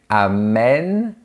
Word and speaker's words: amène: Par exemple, pour le verbe amener, j'amène, tu amènes, il, elle, on amène, nous amenons, vous amenez, ils, elles amènent. Ici, on entend que l'accent grave change la prononciation. Il ouvre le son de la lettre E. J'amène.